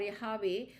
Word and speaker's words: Yahweh: Jehovah is an artificial pronunciation of the consonants JHVH or YHWH, root from Sanskrit. According to tradition, the word was pronounced Yabi. This seems to indicate Jehovah or Yahweh, a pronunciation adopted by many modern scholars.